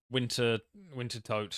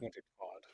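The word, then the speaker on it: Wintertodt: Same as Winter Toad. I still don't know how to pronounce that. I think it's Winter Todd. Winter Todd. Just forget the second T.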